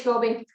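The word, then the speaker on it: SCOBY: So he actually makes his own kombucha, and he has is it Scooby? I can never get the pronunciation right. Scooby, and yeah, it is Scooby.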